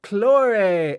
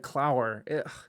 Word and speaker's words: Claure: do you say your full name claude claure hey claray okay so okay i don't know what i said i think i said clower it's fine don't worry it's this american tongue